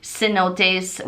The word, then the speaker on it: cenote: entry into the um cenotes which in English is Sino which we call hundred dollar bills Cenote which is the correct pronunciation in espanol is these waterfall caves